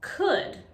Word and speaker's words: could: words end in o-u-l-d it's important to remember that here the l is silent for example we say